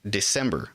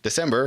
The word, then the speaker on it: Dicembre: December, I think, but it's spelled Dicembre.